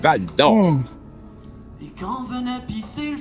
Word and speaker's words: Val-d'Or: You gotta say it with the accent, Val-d'Or.